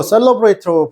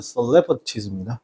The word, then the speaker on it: celebrities: Int talking to 이거 셀ate로 보통 읽으시는데 발음은 정확한 발음은 celebrities입니다.